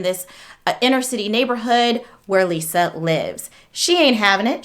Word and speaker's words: Liza: by the name of what appears to be Liza but she pronounces it Lisa spelled l-i-z-a whatevs she can do